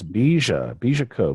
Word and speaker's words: Bija Co: It's Bija Co.